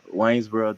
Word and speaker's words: Waynesboro: can you go and tell me decide to pronounce your hometown i don't want to say it wrong again but it is waynesboro georgia waynesboro georgia okay i'd extend the range